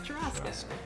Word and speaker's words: churrasco: That is how you say it, churrasco.